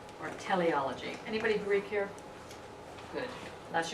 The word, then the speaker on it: teleology: Anyway, T-E-L-E, like television, but T-E-L-E-O, L-O-G-Y, teleology.